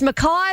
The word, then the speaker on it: Mackay: It's Mackay, like Crystal's hometown in Queensland.